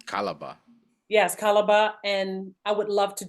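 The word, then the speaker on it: Calabar: carnivals and I see Nigeria has calabra I'm pronouncing it correctly calabra calaba yes calaba and I would love to do that next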